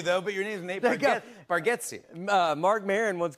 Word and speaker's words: Bargatze: I told you, I think you say our last name correct with Bargatze, and I think we say it wrong as a family.